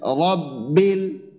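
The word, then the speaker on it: رب: র টা মোটা হবে এখানেও র টা মোটা হবে তাহলে রব্বিল রব্বিল রব্বিল রব্বিল রব্বিল র এর মাখরাজ আমরা ঠিক রাখবো জিহ্বার আগার পিঠ তারপর বরাবর উপরের তালুর সঙ্গে লাগাবো বাকি জিহ্বার গোড়াটা আমরা উপরের দিকে উঠাবো হ্যাঁ রব্বিল রব্বিল রব্বিল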